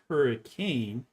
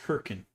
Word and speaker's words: Hurricane: word is not pronounced hurricane. You know that the city name is Herkin.